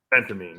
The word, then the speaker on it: Phentermine: felt all right so help me with the pronunciation now is it butramine yeah and then there's ventarmine phentermin or Phentermine Phentermine yeah Phentermine yes so the question from Ivan